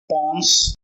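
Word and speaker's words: pons: brain में तीन part होता है सेरी बलम पनस पनस पाउडर मत समझ लेना पनस होता पी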